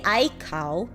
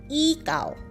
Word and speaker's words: ikaw: say ikaw you you you don't say i cow you say icao you you pronounce this